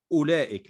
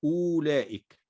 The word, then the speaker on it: أولئك: أولئك، ستجد أن الواو عليها الصفر المستدير، فلا تنطق الواو، إنما ننطق فقط همزة مضمومة، نقول أولئك لا نقول أولئك.